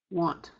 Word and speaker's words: want: if you pronounce that, you're going to find that you don't actually pronounce the N. This is what I was mentioning a while ago. This happens in English, just like in Choctaw. We don't pronounce the N. What happens is we're nasalizing that A. And notice how the A comes before T.